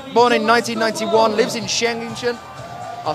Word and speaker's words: Schengen: The 21-year-old athlete, born in 1991, lives in Schengen. I'll say that again, and I'll say it properly. Schengen.